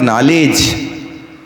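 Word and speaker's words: knowledge: लगा ही नहीं सकते 12 खरी आपने पढ़ी उच्चारण कर रहे आप नॉलेज और आपसे कोई पूछे भाई साहब नॉलेज की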